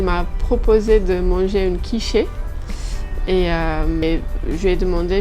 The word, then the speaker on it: quiche: lui ai demandé mais une quoi une quichée jusqu'à ce que je me rende compte qu'elle voulait dire quich et on a eu toute une dispute sur la la la bonne prononciation de du mot quich à l'époque il y